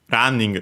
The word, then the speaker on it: ランニング: I checked also running on its own because it's one of those words from English that become unacented in Japanese.